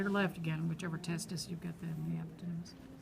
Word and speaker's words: testis: Testis is one. Yeah, I-S on the end, one.